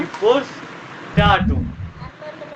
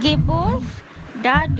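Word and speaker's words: Geburtsdatum: या place of birth, sir date of birth का दोबारा प्रोनाउंस करवाएं। गिबोस डाटम, ये गिबोर्स डाटम गिबोस डाटुम, हाँ गिबोस डाटुम।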